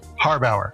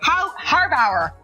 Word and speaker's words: Harbauer: it how do you say your last name harbauer harbauer I can't speak this morning I'm I'm like